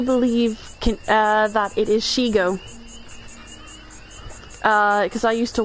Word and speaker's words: Shego: I mean it but yeah I mean that is the way that it's spelled but um it is it is pronounced shigo.